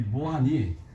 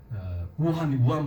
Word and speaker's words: 우한: 이 무한이 우한 바이러스 있죠. 바로 그것이 바로 이 무한입니다. 우리 한국 읽을 때 무한도 있는데 중국에서 이제 발음할 때 우한이라고 해서 우한 바이러스거든요.